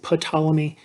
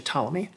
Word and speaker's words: Ptolemy: So it's Ptolemy. It's got a silent P. A lot of students want to say Ptolemy. That is not correct. It's actually Ptolemy.